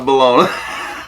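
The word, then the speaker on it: bologna: See that fried balona? That's how you spell it.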